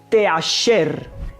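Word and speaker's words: תעשר: En vez de teasher. Es la misma palabra, solo que en vez de S la pronunciaremos con sh.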